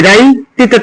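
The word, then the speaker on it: right: নাইট, নাইট, আর আই জি এস টি, জিএস উচ্চারণ নাই, আর আই রাই, টিতে তো রাইট, আর আই রাই, টিতে তো রাইট।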